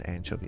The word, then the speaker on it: anchovy: It's important that you pronounce anchovy that way, by the way. Anchovy. I sure did fillet everything, eh?